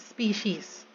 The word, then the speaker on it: species: these species against species are always pronounced with an s and written with an s even if we're just throwing to one group um so yeah it's always species so these species uh